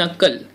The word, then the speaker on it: knuckle: Then नकल. नकल म्हणजे काय? नकल म्हणजे नक्कल करणे नाही. नकलची स्पेलिंग काय? KNUCKLE. इथे के सायलेंट आहे.